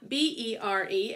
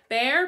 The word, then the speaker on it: Bere: B-E-R-E, it's pronounced Bere.